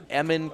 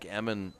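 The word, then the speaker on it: Eamonn: This is the big right-hander, Eamon Kernan. Eamon is spelled E-A-M-O-N-N.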